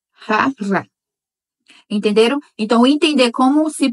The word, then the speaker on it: jarra: Já não vai ser jarra, vai ser jarra. Porque rota se pronuncia assim, com esse som de rota. E a letra R é também R. Então, jarra em espanhol seria jarra, jarra.